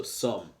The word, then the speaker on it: some: The tricky part is that O instead of the U, and then the silent E. Usually the silent E should make it say O, but it doesn't. In this case, it's just a tricky one, and it's some.